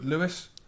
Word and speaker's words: Louis: always come out said stop calling me Louie it's Louis Louie and one Direction's felt